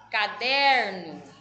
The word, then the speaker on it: caderno: Caderno, né? Ó, o der é a sílaba mais forte.